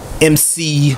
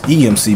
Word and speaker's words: EMC Sinatra: King Lil G and my homie MC Sinatra. EMC. I thought it was EMC, but he pronounces MC.